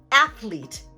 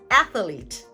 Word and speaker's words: athlete: will pronounce this as athlete, adding an extra the extra schwa sound right in the middle.